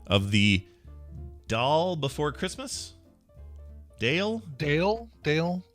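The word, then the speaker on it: Dail: uh the chord is it is pronounced dale okay oh so she's just saying david first thing bail was telling us yeah it's pronounced dale it was the dale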